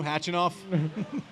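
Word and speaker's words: Khachanov: H I love a silent K. Don't you? Hatchinoff.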